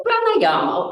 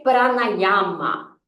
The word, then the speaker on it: pranayama: e prática tá então pranayama afinal de contas o que que é pranayama tá então no sânscrito gente a gente pronuncia as palavras sempre com os as abertos tá a gente não